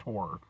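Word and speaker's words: HO99O9: I know it's HO9909, but it's it's pronounced horror, but what the hell is horror and why is it spelled funny?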